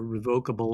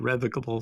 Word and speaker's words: revocable: trust which is a a revocable or you can pronounce it revocable some people do um a revocable trust